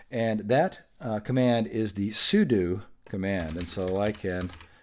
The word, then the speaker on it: sudo: that command is the sudo command and so I can and it's spelled like this sue do you look at that you might say well it looks like sudo because that would be